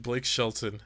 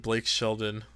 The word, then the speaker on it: Blake Shelton: It sounds if you see how it's spelled. Ah, yes, Mr. Blake Shelton. Hello. I almost said Blake Sheldon.